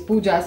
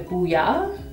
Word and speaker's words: Pooja: So basically in German the J is pronounced as ya, so they call me Puya, and I don't even correct them at this point of time.